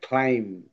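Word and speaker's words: climb: এখানে আন্ডারলাইন করতে হবে সাইলেন্ট লেটার গুলো। তো এক নম্বরে আছে ক্লাইম।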